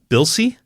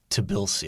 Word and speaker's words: Tbilisi: Dynamo – I'm going to say the T is silent. Bilsey? I think it's Tbilisi. I think the T is not silent.